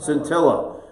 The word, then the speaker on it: Scintilla: How do we pronounce this again? Scintilla? Scintilla.